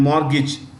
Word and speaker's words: mortgage: loans by hypothecation and mortgage the T in mortgage is silent this is silent okay mortgage means are